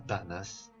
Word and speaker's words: danas: La palabra es danas, con acento en la primera A, danas, es ser sucio e impúdico.